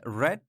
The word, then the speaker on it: read: read this book so here red you see like we don't say read guys yeah because the infinitive past simple and past participle of this verb we write same but in pronunciation it's different so infinitive we say read but past simple and past possible we say red so I haven't read